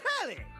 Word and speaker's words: Telly: The name's Tally. Rhymes with Nelly. Like, whoa, Nelly. Did you know Telly offers 5,000 channels like an analyst deli?